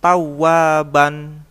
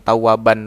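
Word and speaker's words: ثوابا: Begitupun dengan contoh tulisan tawaban dibaca tawaba, ya. Tawaba, bukan tawaban lagi, melainkan tawaba, ya, mengerti ya.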